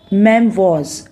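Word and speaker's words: memoirs: ओ आई आर एस लेकिन इसको pronounce क्या करेंगे प्रोनंसिएशन इसकी होगी मैम वाज इसका मतलब हुआ कि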